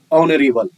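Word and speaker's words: honourable: इस वर्ड में H silent है, इसका उच्चारण ओ से शुरू होता है, ऑनरेबल।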